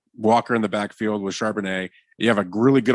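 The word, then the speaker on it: Charbonnet: in the backfield with sharpenet you have a really good offensive line well that's how you say his name yeah it's like a wine yeah well I know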